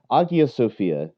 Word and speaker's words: Hagia Sophia: ted bit about turkey so that agia sophia you should probably say with a gub because the greeks are far more especially online irritable than the francophones are about french pronunciation because they know nobody gets it right so whereas the greeks